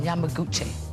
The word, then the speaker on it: Yamaguchi: Yamaguchi.